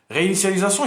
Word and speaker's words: réinitialisation: دونك باش تنطق كلمه رينيسياليزاسيون مزيان حاول تقرا انيسيال شويه انيسياليزاسيون بعد زيد على رينيسياليزاسيون. Réinitialisation, il y a remettre le téléphone à zéro, bien le remettre aux paramètres d'usine.